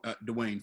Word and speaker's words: Dwayne: Just one word. Dwayne. Dwayne. Yeah. One syllable. Yeah, Dwayne. one syllable, dog.